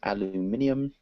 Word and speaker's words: aluminum: want the American pronunciation we would say aluminum aluminum um yeah in England they would say aluminium but we'd say aluminum because because we're kind of lazy and any other questions